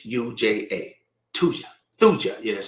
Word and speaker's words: Thuja: Thuja. Yeah, that's spelled like that.